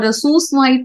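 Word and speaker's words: sous vide: the next technique is sui or swi processing it is pronounced as sui sui is a French term uh the meaning of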